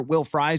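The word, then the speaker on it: Will Fries: And that's where Will Fry comes in. And and it is pronounced Fry, by the way, which is awesome for an offensive lineman to have that as his pronunciation.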